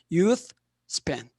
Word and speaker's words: Youth Span: Youth Span, 정확한 발음입니다.